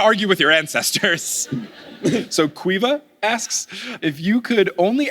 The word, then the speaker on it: Caoimhe: So this one is from, okay, I'm going to try, is it Kaomi? O'Shea? I'm so sorry if I butchered it. How do I say it? Okay. Quiva? Okay, but you spell it Caoimhe?